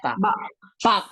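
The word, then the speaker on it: 밖: Jadi bacanya apa? Bak. bak aja, bak. bak, begitu. Bak.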